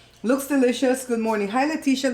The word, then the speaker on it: Leticia: Hi, Leticia. Leticia's in Belize. And let me say it a different way, because Americans say Leticia, but Belizeans say Leticia. Or maybe it's the Hispanics that say Leticia.